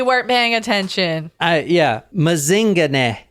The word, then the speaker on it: Mazingane: paying attention all yeah mazinga and that is how you say it too cuz I actually heard someone in South Africa say it oh like